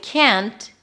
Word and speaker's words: can't: People do struggle with can't because the T is barely noticeable, and then it sounds like you're saying can.